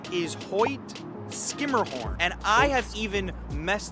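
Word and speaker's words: Hoyt–Schermerhorn: it ho hmer Mahorn yeah if you said Hoy sherah horn you would be incorrect the proper pronunciation is Hoy skimmerhorn and I have even messed that up on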